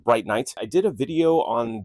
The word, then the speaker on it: Brinyte: This apparently is said Bright Knight. I've been saying it bright because that is how it's spelled, but Bright Night.